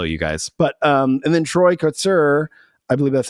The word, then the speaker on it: Troy Kotsur: But and then Troy Kotsur, I believe that's how you pronounce his name, picked up the Oscar for